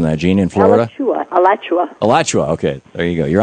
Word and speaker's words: Alachua: Gene in Alachua. I know I'm mispronouncing that. Gene in Florida? Alachua.